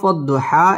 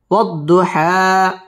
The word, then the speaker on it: والضحى: واو ضاد زبر وض ضاد পেশ দু وض حا খারা জবর হা والضحى ওয়াও ঠোঁট গোল করে উচ্চারণ করব ওয়াদ দত তাসদীদ ওয়ালা হরফ والضحى এক আলিফ টান দিয়ে ওয়াকফ করব والضحى والضحى واو لم زبر